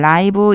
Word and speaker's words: live: 여기서 제가요 어떻게 읽었냐면 라이브 이렇게 읽었어요. 살다가 아니고 살아 있는 형용사로 쓰일 때 라이브라고 읽어 주시면 돼요.